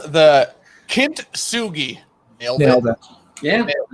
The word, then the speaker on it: Kintsugi: I can't wait for Alec to not be happy about how I pronounce this. It's called the Kintsugi. Nailed Nailed it. Yeah. Nailed it. Yeah. Kintsugi.